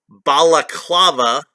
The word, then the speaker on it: balaclava: like some type of real world balaclava i believe that's how that's pronounced not baklava that's the greek dessert which is very delicious